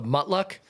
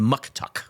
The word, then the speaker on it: muktuk: Um, you talked about, uh, correct me on the pronunciation, the mutuck. The muktuck.